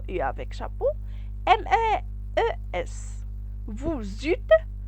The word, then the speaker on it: eu: vous avez la terminaison un z ils ont au mp le passé composé se compose au participe passé et l'auxiliaire l'auxiliaire c'est à voir j'ai eu e u se prononcer u j'ai utilisé il a